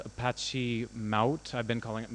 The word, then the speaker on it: Mahout: a project called Apache mouth I've been calling it mahout for ages but it's it's pronounced like trout the fish and it is it's